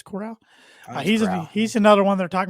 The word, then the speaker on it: Corral: Matt Corral, I believe is how you pronounce the last name, not Carroll. I think it's Corral.